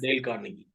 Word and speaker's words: Dale Carnegie: Sir, could you just give us the right pronunciation of that Dale associate? Carnegie. It's yes? Dale Carnegie.